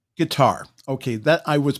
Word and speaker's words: Qatar: It's Qatar. Guitar. Okay, that I was pronouncing it right.